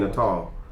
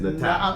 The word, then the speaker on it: Natal: I've actually had somebody send me a message saying, a voice message, Mark, this is how you say it, because I was saying Natal. And it's Natal.